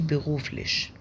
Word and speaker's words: beruflich: بس هو الشائع was machen sie beruflich.